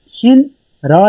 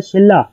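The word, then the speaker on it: 신라: For example शिन रा लिखा हुआ है शिन रा, लेकिन जो इसकी प्रोनाउंसिएशन है जो इसे तलफ़ की अदायगी है वो है शिल्ला शिल्ला।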